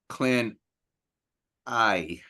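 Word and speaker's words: Clan Ay: Otherwise, Clan I. I'm pronouncing that I. Yes, I have a reason for that. Somewhere I saw it. I was saying A, but I think it's I more likely.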